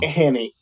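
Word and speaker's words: Hannay: with the guy uh Han is that how you say his name H Hy I think they pronounce it hany in the film Hanny when she first met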